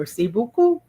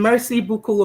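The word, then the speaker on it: merci beaucoup: M E R C I B E A U C O U P Merc Mercy Buu. The next one, Nen. It means grandmother and Mercy Buku of course means thank you very much.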